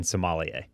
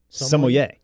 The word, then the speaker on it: sommelier: tutorial on that because i was out here saying somalia what is it sommelier see i have no